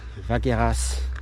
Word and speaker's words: Vacqueyras: I feel like in the in the north you're more likely to have a silent s at the end of um a word or a town but here in the south they usually pronounce the as it's like with the wines Gigondas, Vacqueyras and city Aubenas, not too far away